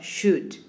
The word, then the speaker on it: should: verbs should for example notice how do i pronounce should no o no el should a can and could